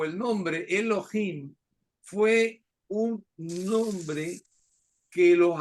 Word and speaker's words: Elohim: filo y fin es con h y m No que los antiguos pronunciaban casi como una jota Elohim no Elohim no tenían